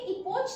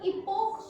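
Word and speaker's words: epoch: इसको भी इपोच ना पढ़ के हम इपोक पढ़ते हैं, इसलिए इसका जब हम प्लूरल फॉर्म बनाते हैं सो स्पेलिंग हो जाती है इपोक्स।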